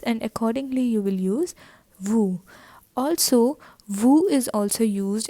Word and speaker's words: vous: Next is il, which is he, elle, which is she, nous, that is we, vous. We are not pronouncing S over here, and it is nous, vous.